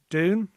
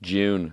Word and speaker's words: Dune: Do you have any Dune? Yeah. So, not June as Rona Mullen called it.